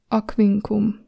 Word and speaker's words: Aquincum: We're actually going to pronounce it like if it was K and V, K and V together.